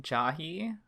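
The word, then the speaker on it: Jahy: Is that how you pronounce her name? Jahi? Yes.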